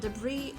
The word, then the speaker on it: debris: through the temporary okay this is called debris in this word s is silent so it will be pronounced messy